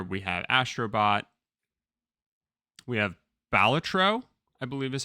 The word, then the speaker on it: Balatro: So without further ado, and these are just in alphabetical order, for Game of the Year, we have Astrobot, we have Balatro, I believe is how you say that.